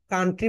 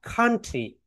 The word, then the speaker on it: country: কান্ট্রি বলি। কিন্তু আমরা তো সবাই পড়েছি ফনিক্স, রাইট? ফনিক্স যখন আমরা পড়েছি এটাকে সি রয়েছে এখানে, রাইট? এই সি সাউন্ডস কে বলা হয় খা খা খা খা খা কান্ট্রি।